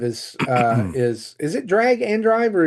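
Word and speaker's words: Drag x Drive: Uh yes, I think drag drive is uh is is it drag and drive or is it drag drive? They pronounced it drag and drive during Okay, drag and drive.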